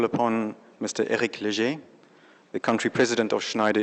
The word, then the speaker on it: Léger: Nobody pronounced my name that well, I'm telling you. Well done. It's good to be here. All protocol observed. My name is Eric Léger, as you pronounce it